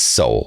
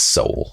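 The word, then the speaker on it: Sowell: economics thomas all okay uh it's it's soul by the way thomas soul okay just so you know how to pronounce that okay go get that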